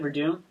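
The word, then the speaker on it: Werdum: That's how you say it, Verdum.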